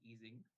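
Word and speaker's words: Ising: an easing model so in German it's called easing but U that's the proper pronunciation uh of the scientist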